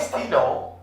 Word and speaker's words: stylos: I'm writing a S, but I don't pronounce S. Plume. P-L-U-M-E-S. The plume. Le stylo. La plume. Les stylos.